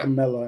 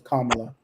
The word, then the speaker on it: Kamala: Because I've always seen it pronounced Kamala, but you know, I remember the thing to remind you is Kamala Mamala. Kamala Mamala. It rhymes.